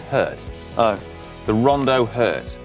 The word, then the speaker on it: HVRT: It's pronounced Hurt.